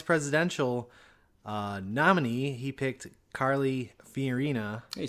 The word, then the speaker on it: Fiorina: He picked Carly Fiorina. Hey, you said it right. That's I did. Yeah, I did say Good it right job. there. I've been pronouncing her name wrong. Yeah, for Fiona.